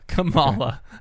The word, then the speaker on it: Kamala: How do you say her name? Kamala. Okay. It's like koala.